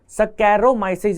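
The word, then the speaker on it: Saccharomyces: नहीं, जिस तरीके से आप प्रोनाउंस कर रहे हैं उसी तरीके से आपको स्पेलिंग याद करनी पड़ेगी। मैं इसको सैकारोमाइसिस या सैकारोमाइसिस से याद रखता हूं, क्योंकि सैक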